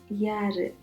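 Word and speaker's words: யாரு: You need to stress the A's over here and say yaru.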